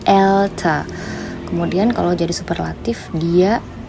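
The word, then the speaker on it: älter: Pengucapannya pun juga jadi beda ya, bukan alta tapi elta.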